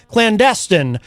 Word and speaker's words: clandestine: Clandestine mission. I apologize. I put the emphasis on the wrong syllable. It's clandestine.